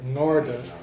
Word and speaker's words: ngarda: So an N eclipses the G, and instead of just hearing the G sound, garda, you would hear the N and the G sort of together, ngarda, an ngarda.